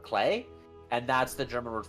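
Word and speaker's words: Klee: like for example CLE the proper pronunciation for the way it's spelled is a German word clay and that's the German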